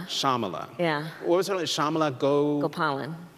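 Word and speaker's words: Shyamala: the name of your mother Shamala so the why is silent Shamala Shamala yeah Shama let go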